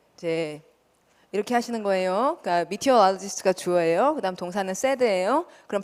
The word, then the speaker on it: meteorologist: 발음 어떻게 해요? meteorologist. 요거를 이제 발음을 2번만 찍으면 훨씬 편하다고. 이거 다 외우려고 하면 되게 힘들잖아요. 근데 meteorologist 두 박자.